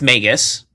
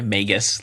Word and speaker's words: Magus: Um I I have several uh It's Magus, by the way. Magus, long a and a hard G.